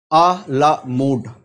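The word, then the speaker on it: à la mode: आइए, पहला वर्ड है आ ला मूड।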